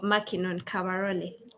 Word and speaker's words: Mackinon Kabarole: So our first question is, what 5 words ably suits the character of Mackinon Kabarole? Am I pronouncing it right though?